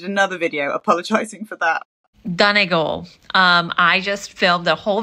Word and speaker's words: Donegal: So it's Donegal, for those who don't know.